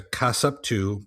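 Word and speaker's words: kassapu: called back then um was called the uh casupu. Casup 2. And if but that's if the a female if the if a woman was a was a witch she was a casupu.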